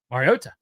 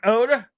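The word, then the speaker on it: Mariota: and Collins's like, "Marcus, how do you say your last name the right way, brother?" And he's like, "Arota." And he's like, "So it's T, it's not Oda."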